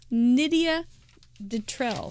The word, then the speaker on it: Nidia Detrell: detrell put it fanatically it rhymes with Lydia Michelle so Nidia detrell thank you she she